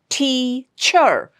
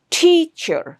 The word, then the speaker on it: teacher: We stress on the first syllable, that is T, teacher.